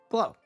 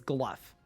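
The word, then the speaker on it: Glough: Talk to Glow. Glaw? Every time I say his name, people tell me that I'm saying it wrong. Do I think the player base dropped because of questing? It's Gluff.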